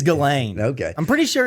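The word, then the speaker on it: Ghislaine: think I think it's galain I'm pretty sure it's just galain I think the S is silent i' like read so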